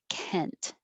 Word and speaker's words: Kent: 27 is male name kent the vowel is e as in head so if i do